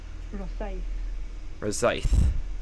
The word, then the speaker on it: Rosyth: Rosyth is how it's pronounced.